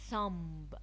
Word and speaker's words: thumb: Climb, crumb, lamb, thumb. It's not very clearly pronounced.